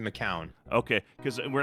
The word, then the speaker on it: McCown: So is it McCown or McCoon? I've pronounced it McCown.